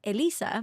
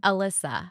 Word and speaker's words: Elyssa: I say it but I say it Elisa because that's the Spanish way to pronounce it but please everybody if